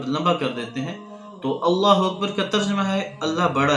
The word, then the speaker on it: اللہ اکبر: تلفظ ٹھیک ہونا چاہیے، اللہ اکبر، یہ اس کا تلفظ ہے، حمزہ بھی واضح ہو اور را بھی واضح